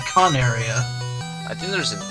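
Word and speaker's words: Coneria: were recording here um remember all those times i corrected you on the pronunciation of coronaria were you wrong yeah i think i was i was looking at some of the episodes and i think it's actually con area i think there's an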